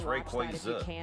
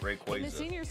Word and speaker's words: Rayquaza: So well, they actually told us it's Rayquaza, isn't it? Rayquaza. That's how they that's how you pronounce it.